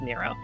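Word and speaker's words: Nrvnqsr: is a universe uh chaos but everybody it's pronounced Nero uh he's crazy he used to be I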